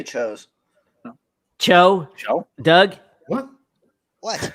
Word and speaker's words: Tso: So, Ken, So, Todd, Oh, I say chose.